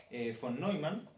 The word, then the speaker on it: von Neumann: de todo el de von Neumann, o Neumann, no sé cómo se pronuncia. Neumann. Von Neumann, porque es gringo, pero el apellido es alemán.